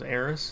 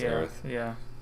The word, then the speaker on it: Aerith: Yep, and I guess in the original it was Eris is what? Eris? It was spelled with an S, and this one is spelled with a T. It's Aerith. Yeah, TH at the end.